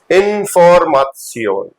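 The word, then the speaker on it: Information: बोलते हो आप इसको लेकिन जर्मन में देखो आई लास्ट में आ रहा है तो उसको सियोन का साउंड आएगा इनफॉर्म सन इन फॉर मथ सियो इस तरह से आपकी साउंड रहेगी इनफॉर्मा स ऐसे ही अगर कोई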